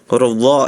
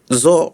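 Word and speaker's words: ظ: Jangan membacanya itu seperti huruf zo ya. Ya, zo, jangan zo, tapi harus dha. Dia sama seperti dha, makhrajnya ujung lidah ada di ujung gigi seri atas. Jadi dha, jangan zo ya rekannya.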